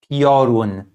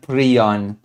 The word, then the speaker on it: Piorun: And you pronounce it Piorun. Okay? Piorun, not Prion. I don't even know where this pronunciation came from. Prion. I have no clue. guys guys pronounce it, really? Prion? But yeah, the translation is good. It's a Thunderbolt, but it's Piorun, not a Prion.